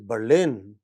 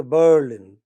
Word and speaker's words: Berlin: That is Berlin. You don't say Berlin. You say Berlin. It's on the second syllable.